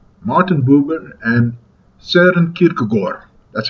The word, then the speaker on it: Kierkegaard: Martin Buber and Søren Kierkegaard. That's how you pronounce it.